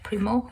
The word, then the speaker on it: Primo: Primo, and that's how you pronounce her name.